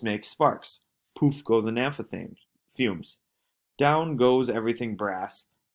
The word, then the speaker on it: naphtha: Naphtha, pronounced naphtha, is a flammable oil containing various hydrocarbons obtained by the dry distillation of organic substances such as coal, shale, or petroleum.